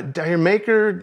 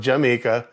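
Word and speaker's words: D'yer Mak'er: that's one of my favorite zeppelin songs uh diary maker it's actually pronounced jamaica it's not my favorite because i'm a dj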